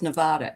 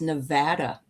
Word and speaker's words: Nevada: It's not pronounced Nevada. It's Nevada.